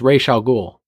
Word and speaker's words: Ra's al Ghul: Denny's also the one that was on Kevin Smith's Fat Man on Batman and said it's Ra's al Ghul.